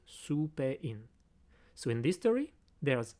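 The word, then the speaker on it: スペイン: And in my code, I associated this sound su with the country Spain, because in Japanese, you pronounce it su-pe-in.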